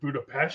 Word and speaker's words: Budapest: just black widow going it's actually pronounced budapest she's the one that